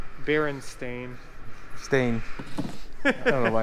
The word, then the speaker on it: Berenstain: old did you know most people never say the name right they say bernstein oh i know yeah this is einstein berenstein i think berenstain stain i don't know